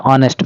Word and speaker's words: honest: Answer is he is an honest man because in the word honest letter H is silent that's why we have to use the article an.